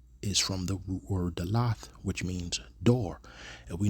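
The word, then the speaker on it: דלת: The root word that da comes from is dalath, pronounced. They have dalatha, but that's dalath, which means door.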